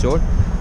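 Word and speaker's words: Mjódd: The place name is Jord, M-J-O-D. Pronunciation is Jord.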